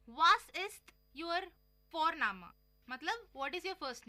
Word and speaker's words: Vorname: और हम यहाँ पे फोरनामा प्रोनाउंस करते हैं बट लिखते हैं उसको VORNAME. ओके, तो वो हम इंग्लिश के अनुसार प्रोनाउंस करेंगे तो वो बनेगा वॉरनेम, बट नो, इट्स फोरनामा.